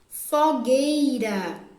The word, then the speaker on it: fogueira: Fogueira. Foguei. Gay. Tem a letra U, mas também não é pronunciado. Fogueira.